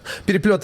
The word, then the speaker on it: Переплёт: Am I pronouncing it correctly? That's right. Переплёт is a Russian name for, in English, we sometimes refer to it as tangle, like something that's entangled.